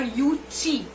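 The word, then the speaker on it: Yueh-chih: इसके अलावा there was another nomadic tribe known as Yuchin or Yuchi. We'll call it Yuchi. It is spelled as YUEHCHIH. Right.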